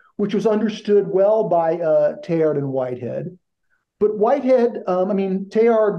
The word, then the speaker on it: Teilhard: It's just Teilhard. But in the community of practice at this conference among scholars, especially Americans, they've anglicized his name and they say Teilhard with the hard D at the end.